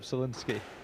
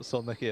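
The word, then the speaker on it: Solnický: I've been reliably informed that it that it's uh Jakob Sinski is how you pronounce it. Yeah, not Soniki as I was saying yesterday.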